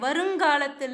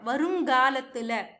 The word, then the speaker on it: வருங்காலத்துல: वाला चूज करते हैं वरुंगालत्तुल, इसको का नहीं आएगा, ग आएगा, वरुंगालत्तुल, काल की जगह पे गाल ऐसे आएगा प्रोनाउंसिएशन, ठीक है, वरुंगालत्तुल।